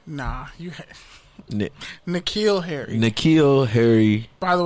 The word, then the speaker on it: N'Keal: a few years ago out of Arizona State, Carnell, say it right? Nah, N'Keal Harry.